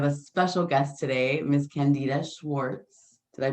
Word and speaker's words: Candida Schwartz: I am Amira, and I have a special guest today, Miss Candida Schwartz. Did I pronounce Hi.